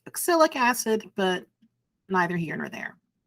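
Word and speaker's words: oxalic acid: the word acid technically this thing is pro pronounced oxyc acid but neither here nor there last but not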